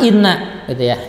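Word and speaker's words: إِنَّ: 191 bersatu yang pertama Inna Inna itu dibaca dengan ghunnah ya Kenapa guna karena Nun bertasydid ya dan berhasil bacanya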